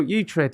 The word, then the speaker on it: Uhtred: How would you pronounce, I'm asking you this, how would you pronounce Utred? I'd go to the doctor. Utred. Uthred. Oh, Utred. Like, Putrid. No, Utred, like off The Last Kingdom on Netflix.